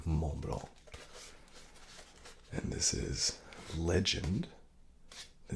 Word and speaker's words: Mont: M Blanc all right Mong Mong I'm trying to get better at that I've been told you don't pronounce the T or the C Mong and this is Legend